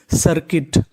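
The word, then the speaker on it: circuit: मतलब होता है एकीकृत सी आई आर इसे पढ़ेंगे सर सी यू आई टी यहां पे यू साइलेंट रहेगा आई का उच्चारण होगा तो मीनिंग बनी सर्किट सर्किट सर्किट सर्किट का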